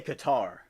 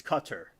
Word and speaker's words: Qatar: And they say Qatar, but the pronunciation is cutter, you know.